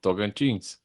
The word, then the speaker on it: Tocantins: I want to dedicate this episode for if anyone is watching, for the people of the Brazilian state of Tocantins. Good. I'm glad you got it pronounced right.